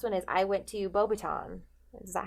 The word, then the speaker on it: Beauxbatons: And then the last one is I went to Beauxbaton. Is that how you say it? Yeah. Beauxbatons.